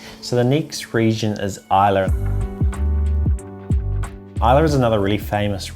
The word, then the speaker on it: Islay: A lot of its distilleries do really heavily peated smoky whiskies, and it's located on this little island called Islay, pronounced Islay.